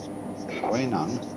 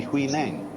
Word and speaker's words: Huineng: But this is simply the Cantonese way of pronouncing the same characters, and this is the Mandarin way.